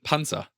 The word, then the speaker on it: Panzer: tank stopper in German how do you say tank in German P it's in Panza Panza is tank yeah so Panza Panza